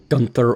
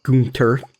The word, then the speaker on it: Gunther: can take to uh Gunther or gter depending on your particular Regional pronunciation I got so many messages about calling him Gunther I grew up in school with someone who used that spelling and the pronunciation of Gunther so I apologize if